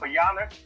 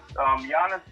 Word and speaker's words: Giannis: Giannis, I'm sorry, I keep calling him G. You're supposed to pronounce the G. But Giannis, to me, is a better two-way player.